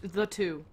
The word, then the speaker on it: The 2: Sorry, I think it's pronounced C2. It's spelled the T-O-O, so depending on how you prefer to pronounce that, that could be the, that could be the. I think the 2 is how I've heard some other folks say it.